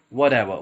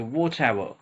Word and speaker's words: whatever: This is people mostly pronounces it wrong, as in American style they would say whatever, whatever, right? But it's in British accent it's a whatever, okay?